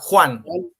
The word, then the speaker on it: Juan: Yeah, Juan. Juan Zanotto. Yeah, Zanotto. The J for us is like your H.